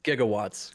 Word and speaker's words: gigawatts: whatever yeah the thing gigawatts yeah the 103 gigawatts whatever um it's gigawatts it is this isn't a gif GIF situation it is now